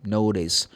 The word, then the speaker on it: notice: C-E. Notice. You don't pronounce the E in this case because the E is known as magic E. Say notice.